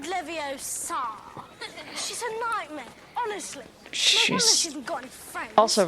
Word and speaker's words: Leviosa: someone's eye out besides you're saying it wrong Leviosa not Leviosa Wingardium Leviosa she got